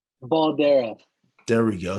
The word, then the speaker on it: Baldera: say your last name baldera there we go so it kind of looks like the way it looks okay okay just want